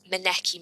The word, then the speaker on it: Maneki: Will, you're the owner of Maneki Motion. Have I pronounced it correctly? Yeah, no, you've got it right.